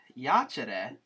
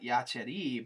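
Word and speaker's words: iacere: lies in the grass but yachere where that's a short e accent is here yeah just to throw the throw and remember what we said about these third family the short e family the infinitive is not yachiri but just yachi excuse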